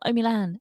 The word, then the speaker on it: Omilan: of people mispronouncing it it's very simple oh milan oh where's milan there